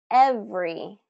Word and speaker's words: every: Every, every. Not every, every, but every, every.